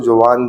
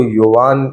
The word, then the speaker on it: Jovan: लेकिन उन्होंने कहा यार इसको जोवान नहीं, इसको योवान, इसकी जो प्रोनाउंसिएशन है सही वो योवान है इंस्टेड ऑफ जोवान।